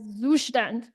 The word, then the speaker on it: Zustand: It actually pronounces as Zustand. It's a German word. It literally means state. Well, I know what you're thinking. Wait, that sounds like English, right? From Zustand to Zustand, not much difference.